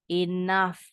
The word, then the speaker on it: enough: F di belakang nih contoh tadi enough contohnya tough juga sama jadi gh-nya bisa berubah bunyi jadi F alright lanjut Ataya your